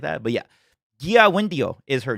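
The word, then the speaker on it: Kiawentiio: Oh yeah, someone told me her name is not Kia Wendio. It's like something. It's like a G sound. Like, it's Gia Wendio, like Gia Wendio.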